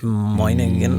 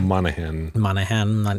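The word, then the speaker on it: Dominic Monaghan: Dominic Moynihan. I don't know how to pronounce it. Monaghan.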